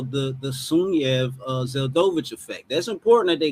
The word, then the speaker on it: Sunyaev-Zeldovich: It's Sunyaev-Zeldovich. You have to say it like a Russian. Sunyaev-Zeldovich.